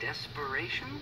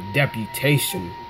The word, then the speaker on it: deputation: The question is, what is a desperation?